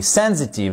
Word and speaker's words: sensitive: de sensible sensitive exact sensitive avec une accentuation sur la première syllabe regardez ces deux phrases